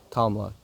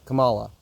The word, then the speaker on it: Kamala: just what we say kamla Camila Kam Kamala is it Kamala Kamala Kam Kamala whatever I'm not trying to be disrespectful by mispronouncing her name kamla is just comes naturally so whatever um I'm sorry